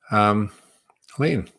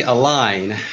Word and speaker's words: Aline: I think the next question might be from Elaine. Yes. Mark. How are you? Hi. And how do you say your name? Yes. So it's actually Aline. I'm actually Spanish. It's a French first name, but it's Aline.